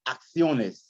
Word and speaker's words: acciones: When you got double C's, you want to pronounce them like a C and a K. It's like acciones.